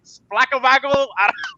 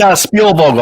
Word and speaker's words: Spielvogel: Is it Splackovagel? It's Spielvogel. I can even pronounce it sometimes.